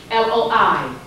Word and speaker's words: loi: But white folks write it L-O-E, L-O-I. Their Loa is written L-O-I. Our Loa is written L-O-A. Both are pronounced the same way.